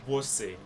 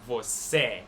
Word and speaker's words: você: There's an accent on top of that E, which we went over, and it makes it more like closed vowel sound. You're not going to pronounce that letter E, você. You're going to pronounce it você. You'll pronounce it closed.